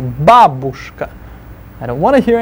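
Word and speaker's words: бабушка: Babushka. Stress the ba first syllable. Babushka.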